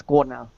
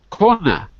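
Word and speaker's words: Kornel: So my name is Ka. Ka. Yeah. Spell that for me so I get it right.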